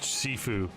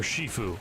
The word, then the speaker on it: Sifu: he also um judged sifu or shifu as it should be pronounced um and he's hilarious